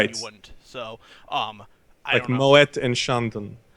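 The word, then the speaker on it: Moët: wouldn't so um I Moet and Shandon right so so you do sometimes pronounce the T at the end of those French words it just depends okay anyway this has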